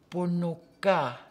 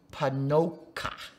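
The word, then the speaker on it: Ponoka: We have a town in the province of Alberta that has that name, but none of us pronounce it properly. We call it Panoka. Panoka is the true name of that town in northern Alberta.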